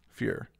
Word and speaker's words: fyr: they when I hear when the Swedish when a Swedish person uh pronounces it the r isn't really uh it's not really accentuated like your artist fear and it's like the r is not really there so I sound like